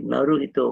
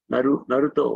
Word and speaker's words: Naruto: The Naruhito Whirlpool, Naruto Whirlpool, the Whirlpool called, I'm sorry, the spelling pronunciation is wrong.